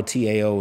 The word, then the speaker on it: Tao: And that's most people, you know, Tao, T-A-O is pronounced Tao, D-A-O. I may be wrong about that.